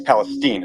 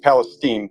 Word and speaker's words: Palestine: Palestine I'm sorry it's Palestine it's pronounced Steen not Stein stuff came from East Palestine 15 miles down through